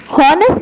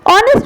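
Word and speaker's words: honest: हॉनेस्ट नहीं, ऑनेस्ट होता है बेटा, एक्ट साइलेंट होता है.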